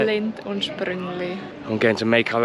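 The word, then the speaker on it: Lindt & Sprüngli: Lindt und Sprüngli.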